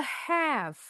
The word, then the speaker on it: half: Bacanya one and a have. Tulisannya H A L F. L-nya enggak boleh bunyi.